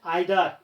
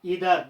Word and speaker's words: either: noun always plural and either either both the pronunciations are correct okay one is British another one is American either stands for one